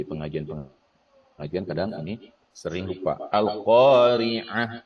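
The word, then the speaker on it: القارعة: Al-Qari'ah itu ain ya, bukan a. Nah, kadang Al-Qari'ah karena bacanya dari Latinnya, padahal di sana huruf ain.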